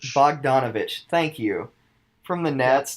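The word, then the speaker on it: Bogdanović: really don't know how to say his name Bogdanovic Bogdanovich thank you from the Nets that's going to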